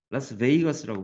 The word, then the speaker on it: Las Vegas: 라스베이거스라고 발음합니다.